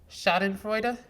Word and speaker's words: Schadenfreude: You gotta get back to it so I can remember how to pronounce it. It is Schadenfreude.